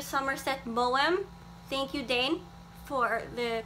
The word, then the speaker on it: Maugham: Somerset Maugham. Thank you, Dane, for the correct pronunciation.